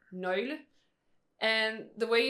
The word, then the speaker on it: nøgle: it's an actual vowel with its own sound. So that's the O with the line through with it. the line through it. So it's pronounced so nøgle.